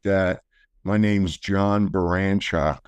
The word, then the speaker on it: Baranchok: My name's John Barshock. B A R Well, you can see it's spelled B A R A N C H O K.